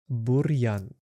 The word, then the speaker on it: бур'ян: The next word banan also stays hard. If it wasn't hard, we would sound ri banan.